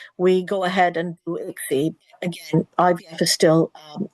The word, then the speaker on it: ICSI: go ahead and do Ixie. Again IVF is still um can be still used. Um if I spelled ICSI but it's pronounced as Ixie.